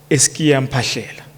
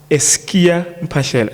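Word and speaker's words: Es'kia Mphahlele: I will refer to him as Ntate, Eskia Mpashela. Eskia Mpashela. She could not pronounce it properly, so I am emphasizing it. It's Eskia Mpashela.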